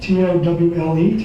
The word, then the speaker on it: Towle: This was supposedly the townhouse of Professor David Towle, T-O-W-L-E, Towle, I guess you pronounce that.